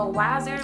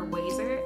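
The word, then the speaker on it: Wasser: The contact cleaning solution that I use is the Waser Multi Solution Plus. This is what it looks like. I'm pretty sure it's pronounced Waser, W-A-S-S-E-R, or Waser. I think it's Waser, which is a really extremely weird name.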